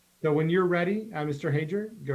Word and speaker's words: Hager: It's Hager. It's phonetic, just as it's spelled.